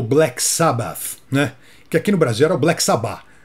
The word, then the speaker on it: Black Sabbath: aí eu me falando é Black Sabbath é aquele th no finalzinho que você pronuncia também já que ambas foram